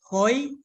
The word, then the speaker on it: hoi: Sarawak it is known as hoi did I pronounce it right hoi yeah correct correct okay anyone else thank you